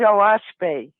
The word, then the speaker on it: Oahspe: It's spelled OAHSPE, and it's actually 3 syllables, which stands for Earth, Sky, and Spirit. O is sky, is earth. That's an Algonquin word. Sure. And Spe is spirit.